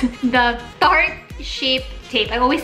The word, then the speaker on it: Tarte Shape Tape: When I saw this concealer, I had to try it, and it's the I can pronounce it. The Tarte Shape Tape. I always say short tape, but it's a Tarte Shape Tape concealer.